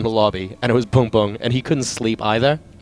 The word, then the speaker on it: Bboong: people to pronounce, because it's kind of Bboong like that. And, but the B is like totally acceptable if you use that sound.